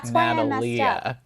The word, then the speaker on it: Natalia: her name again natalie it was spelled like natalia but it was said like natalie natalia oh my god